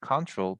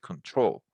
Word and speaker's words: control: When we say control, we refer to the noun. So the control, you see, the control of influence. But if you want to refer to the verb, we need to stress the last syllable. So it's not control, but control.